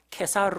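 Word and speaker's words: Caesar: 있던 그가 2살이 않은 가이사랴 는 로마 황제 가이사 a 라는 이름에서 따왔습니다 우리가 그럼 가이사 a 라고 부르기도 하고 케사르 라고 부르기도 하고 영어 발음으로 씨저 라고 부르기도 합니다 그래서 카이사르의 이름을 따서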